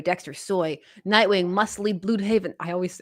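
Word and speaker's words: Blüdhaven: Yeah, it's the accent on the U. I'm always like Bloodhaven.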